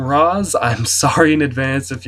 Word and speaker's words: Ra's al Ghul: I've heard it pronounced different ways depending on what I'm watching. The cartoon said Rage, and the Batman Nolan movie said Roz. So I'm going to call him Roz.